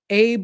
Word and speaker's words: Abbe: The attorney is ABBE, so I don't know if they Yeah, pronounce it I don't know if he AB pronounces or it Abe or Abby. Abby. Yeah.